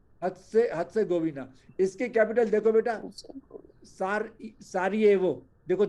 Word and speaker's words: Sarajevo: इसकी कैपिटल देखो बेटा, सारियेवो, देखो जे है ना, इसको ज सारायेवो, बोलते हैं, ज, सारियेवो लिखते हैं, SARAJEVO, बोलेंगे सारियेवो।